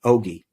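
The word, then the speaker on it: ogee: And it was, in their term, an ogi. It's spelled O-G-E-E, ogi.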